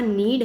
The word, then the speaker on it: knead: तो यहाँ नीड है, इसकी स्पेलिंग है KNEAD. के से शुरू होता है, साइलेंट है के.